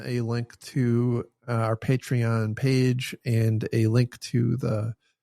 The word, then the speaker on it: Patreon: And a thank you again to our Patreon sponsors. By the way, look, I have fully changed over to pronouncing it correctly. Patreon.